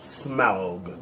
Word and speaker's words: Smaug: It's like you're about to throw up when you say it. Smaug. Yeah, say it like that exactly.